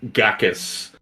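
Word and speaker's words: Ghakis: i know what that oh i said it wrong it's a it's gakus g-h-a k-i-s okay i don't know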